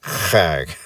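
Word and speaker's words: חג: And that's that you have to use your throat to say that word.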